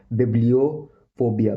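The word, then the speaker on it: bibliophobia: इसका जो मीनिंग है वो है इंग्लिश प्रोफेशनल लैंग्वेज में इसको बोलते हैं बिब्लियोफोबिया, बिब्लियोफोबिया, बिब्लियोफोबिया, बिब्लियोफोबिया, बिब्लियोफोबिया, बिब्लियोफोबिया, बिब्लियोफोबिया, बिब्लियोफोबिया, बिब्लियोफोबिया।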